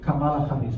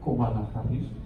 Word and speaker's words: Kamala Harris: Por ejemplo, la que más me gusta a mí es Kamala Harris, perdón, se pronuncia Kamala Harris, ella siempre lo dice.